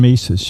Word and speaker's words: Mises: so you can correct me but Ludwig von Mises or Ludvig von Vises I'm not sure Ludig van Mises there we go yeah the human action